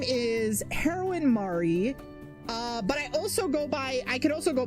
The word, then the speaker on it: Mari: In case anybody was curious, it is pronounced Mari, but yeah, that is my name.